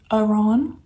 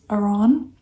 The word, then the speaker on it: Aron: Aron I believe like Ron but it's spelled almost like Aaron but it's not. It's Aron.